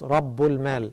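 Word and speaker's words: رب المال: The words taken together are pronounced as Rabbul Mal.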